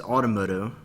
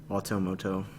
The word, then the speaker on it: Automoto: only to be addressed as Automotive pronounced in the manner of Motorola's Motorola's hello moto Alto moto I don't know if